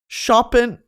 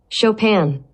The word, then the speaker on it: Chopin: ] that makes so much more sense Opera shopen is it shopen Chopin's nocturn Opus 9 number two Chopin's second nocturn how to pronounce shopen shopen I'm so smart shopan [